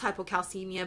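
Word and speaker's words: hypokalemia: hypocalcemia now if you'll notice here it's it's pronounced hypocalcemia but the calcemia spelled with a K that's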